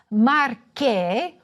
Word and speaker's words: Marche: But it is why we pronounce MARCHE with a hard "c."